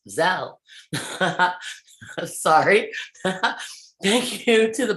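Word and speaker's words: Zelle: venmo cash app and now zell pronounced zell sorry thank you to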